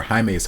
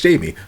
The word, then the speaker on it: Jaime: I just finished reacting to episode 2, and y'all, or Jaime's Heart. Sorry, I'm so American. I see the name, I'm like, oh, it's Jamie, but we pronounce it Jaime in the series.